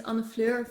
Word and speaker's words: Annefleur: myself my name is on the floor that may be a difficult name for some of you to pronounce it's Dutch I'm from Holland and it's okay if you